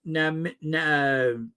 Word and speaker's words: Namibia: It's pronounced Namibia.